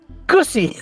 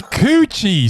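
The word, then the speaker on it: Cucci: Gussie. It's Coochie. C-U-C-C-I. Instead of Gucci, it's Coochie. With a C.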